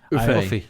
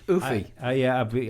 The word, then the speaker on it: Uffe: It's UFFE. Uffy. Oofy. I was told that the E is pronounced the same you would pronounce elf.